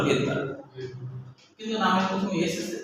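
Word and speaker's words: Svedberg: অনেকে সহেতবার ভার্ব বলে সোহেদবার এস আছে তো তাই কিন্তু আসলে উচ্চারণ হলো ভেদ বার।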